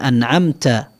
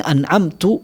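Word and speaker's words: أَنْعَمْتَ: Tetapi contohnya misalkan siratal ladzina an'amta alaihim, jalan yang engkau beri nikmat, jalan orang-orang yang engkau beri nikmat. Salah dia bacanya siratal ladzina an'amtu alaihim, yang aku beri nikmat. Ini merubah makna sekali.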